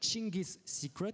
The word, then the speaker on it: Dschingis Secret: qui on a pris des cours de prononciation ce matin avec Chingis Secret, prononcé ainsi.